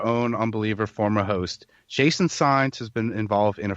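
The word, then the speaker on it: Saenz: And that's Jason Sines. Sines is spelled S-A-E-N-Z.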